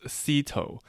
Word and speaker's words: Zito: properly pronounced as Cito. But then for Zito. simplicity, for people from my area, I just tell them like the manager of the Blue Jays was Cito Gaston.